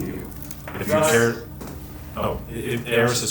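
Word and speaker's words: Arris: Oh, Eris is spelled A-R-R-I-S.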